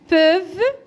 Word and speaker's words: peuvent: Ces engrais, donc la liaison, ces engrais هاد الأسمدة peuvent, donc عندنا هنا le verbe au présent. La terminaison ENT ne se prononce pas comme s'il y a un E.